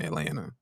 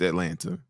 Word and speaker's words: Atlanta: atanta or something you you don't be putting the it's it has a te in it Atlanta not Atlanta it has a it has a second te I'm trying to say